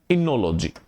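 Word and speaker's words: oenology: अब एक शब्द आता है इनोलॉजी। इनोलॉजी। अब लॉजी लग गया तो आपको बताया था लॉजी वाले शब्द कौन से हैं? ग्रीक भाषा के। यह बना हुआ है इनोज ओ साइलेंट होता है इनोज प्लस लोगस से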